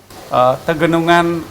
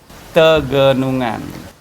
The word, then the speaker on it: Tegenungan: How do you pronounce the name of this waterfall? Tegenungan Waterfall. Slowly once again! Tege...nun...gan! Tegenungan.